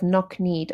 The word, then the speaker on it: knock-kneed: coughing coasts and backs although the K sound sounds of knock-kneed or silent they contribute visually because we don't say the K in knock-kneed they contribute visually